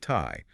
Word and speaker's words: Tai: So, the original pronunciation was something approximating um Khurtai. Khurlai. Yeah. And over centuries of usage, you know, tribal divergence, natural dialectical shifts, the R sound slowly transitioned into an L sound.